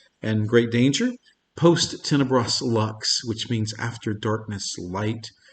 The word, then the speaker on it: Lux: latin word for light i suppose it should be pronounced luke's but we're american so we say lux the purpose of luck's